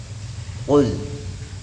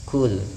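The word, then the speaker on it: قل: bahwa surah Al-Ikhlas ini ketika kita membaca huruf qaf, ya, kita usahakan untuk membacanya dengan isti'la, dengan sifat yang tebal, ya. Qul, jangan dibaca dengan tipis atau membacanya seperti huruf kaf, kul, karena maknanya tentu ya,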